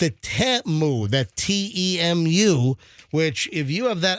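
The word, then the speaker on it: Temu: Also, I have an email regarding that uh Chinese ecommerce site uh Teu, which you know, we all want to say Teimu, but on the commercial that they ran 19 times on the Super Bowl.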